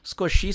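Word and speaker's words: 少し: é scochi x né o i ele não é pronunciado com tanta ênfase scochi significa um pouco e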